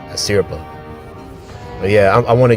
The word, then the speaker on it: Asirpa: his unfortunate predicament with Aspira. Sorry, I said her name wrong. Asirpa.